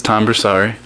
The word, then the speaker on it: Tom Borsari: make it pass okay yeah well this is tomber sorry Hey did I pronounce that right yeah okay Kirby is here